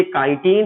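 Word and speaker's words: chitin: लिखते spelling चिटिन है, पढ़ते काइटिन है।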